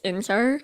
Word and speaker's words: Enzo: I know since I live in America, everyone says Enzo, like that. But in Australia, where I'm from, we say Inzar.